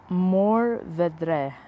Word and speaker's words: Mourvèdre: but I have it written down, It's 15% Mourvèdre. It's spelled Mourvedre.